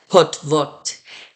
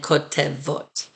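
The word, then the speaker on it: כותבות: So we say kotvim and kotvot, not kotevim and kotevot.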